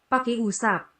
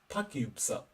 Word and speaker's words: pakiusap: Pikusap. Pakiusap. Pakyupsup.